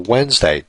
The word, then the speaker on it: Wednesday: I mean, the proper spelling is completely different than the way it sounds. So phonetically, this is how I would spell Wednesday, W-E-N-S-D-A-Y.